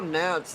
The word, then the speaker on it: Knapp: Yeah, and Kyle Knapp's name is actually pronounced Knapp. The K is silent, just a little heads up.